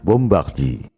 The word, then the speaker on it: Bombardier: Kalau bahasa Prancis, ucapan dan tulisannya memang beda. Bombardier, bacanya Bombardier. Louis Pasteur, bacanya Louis Pasteur.